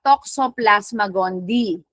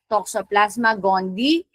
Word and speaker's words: Toxoplasma gondii: And then you have Toxoplasma gondii. That's how you pronounce that. Toxoplasma gondii.